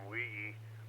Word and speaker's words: Weege: You mentioned that Lonnie Weege, that's the way he pronounces his name, Weege, was with Meade.